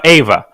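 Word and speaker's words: Euwe: In Russian, we say Ava.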